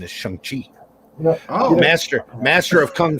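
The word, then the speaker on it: Shang-Chi: when i was a kid it was always chiang chai but uh we were always mispronouncing it they changed it well apparently his correct pronunciation is shanghi oh master master of kung fu and i'm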